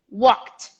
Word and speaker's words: walked: that called called called ignore the e go straight to the t walked as i said at